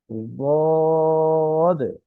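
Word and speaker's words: ضاد: তারপরে যে হরফটি আমরা দেখছি সেটি হচ্ছে বদ, বদ। এই হরফের উচ্চারণ দেখা যাচ্ছে জিহ্বার কিনারা মাড়ির দাঁতের সঙ্গে লাগিয়ে। জিহ্বার কিনারা হচ্ছে আমাদের দাঁতের যে কিনারা আছে, জিহ্বার যে কিনারা, এটা মাড়ির দাঁতের সাথে লাগবে। বদ। একদম দালও শোনা যাবে না, একদম জদও শোনা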